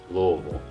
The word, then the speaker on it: Louisville: to Sacramento California Louisville Kentucky that's how you pronounce my life Louisville and then Spike TV did travel programming and